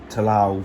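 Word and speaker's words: Ta Lo: they get to talau yes they pronounce it talau from when they first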